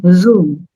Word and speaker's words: Zoom: It is a Z over there, right? It's Yes. not a J. It's not a J for jug. It is not Yeah. Zoom. It is Zoom. So the Zoom. pronunciation is Zoom.